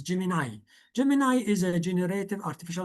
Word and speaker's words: Gemini: Some people call it Gemini, but actually the correct pronunciation is Gemini.